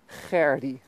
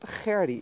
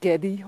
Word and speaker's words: Gerdi: It's Gerdi. You clear your throat and you roll your R's and you've got Gerdi. It's not so difficult. And it's not Geddy or Gerda or Gerdi or the Eddie.